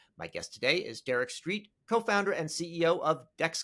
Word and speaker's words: Streat: I get it uh you got it right Street it's a it's it's pronounced the way pronounce the way you would expect but not the way it spelled okay sounds good all